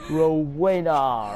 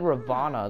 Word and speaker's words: Rowena: lady otherwise known as rowena ravenclaw i completely butchered her name or uh didn't know the name i i said ravana the first time i believe in this